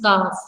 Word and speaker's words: calf: It is not calf. It is calf. See, L is silent here.